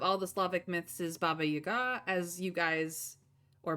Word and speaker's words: Baba Yaga: most famous of all the Slavic myths is Baba Yaga as you guys or Baba Yaga depending on pronunciation um and in the majority of her